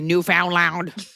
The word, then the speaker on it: Newfoundland: Newfoundland.